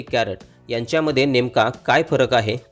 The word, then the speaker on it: Carat: ए आर ए टी कॅरट यांच्यामध्ये नेमका काय फरक आहे ते जाणून घेणार आहोत के ए आर ए टी आणि सी ए आर ए टी या दोन्ही स्पेलिंगचे उच्चार कॅरट असा होतो म्हणजे दोन्ही शब्दांचे उच्चार